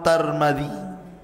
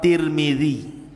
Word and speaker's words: Tirmidzi: kota sebuah daerah dan ada yang kemudian membacanya tarmid ada turmud ada tirmid jadi ada sebagian mengatakan Imam tarmadizi ada yang mengatakan Imam turmudzi ada yang mengatakan Imam Tirmidzi walaupun yang masyhur adalah Imam Tirmidzi ya dan itu yang